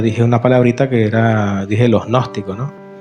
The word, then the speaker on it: gnóstico: Ese es un término que se escribe, primero se comienza con una G, la G, y después uno escribe gnóstico, N-O-S, pues tiene una G adelante, una G que no se pronuncia, ¿no?